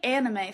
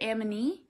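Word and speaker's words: Aminé: I was saying anime for a long time. It's not anime. Is it Amine? Amine? Aminu? That's definitely not it.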